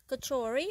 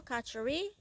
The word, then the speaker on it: Kachori: This is a Trinidad version of Kachori or Kachori. Depending on where you are, you will pronounce it.